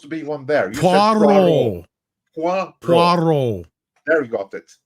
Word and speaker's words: Poirot: Did I say it right this time? No, Poirot. Poirot. Films Without directed. Well, you sound like you got an R in.